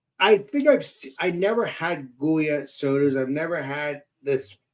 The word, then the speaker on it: Goya: no, it's spelled with a G. It's Goya.